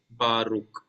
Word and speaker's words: Baruch: So that's why when I read this word, I said it is Baruch, not Baruche. Okay, Baruch.